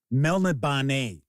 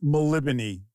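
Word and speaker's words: Melniboné: hey don't feel bad because I always said Mel banet El of Mel banet it's maliban that is supposed to be the Flaming says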